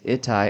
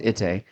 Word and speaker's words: Ittai: Ittai, actually, excuse me, it's pronounced Itte.